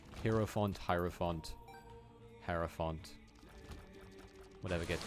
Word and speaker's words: hierophant: like the hierophant until i had the guy say it herrio font i sort of like changed how i pronounced it like hero font hierophant hero font whatever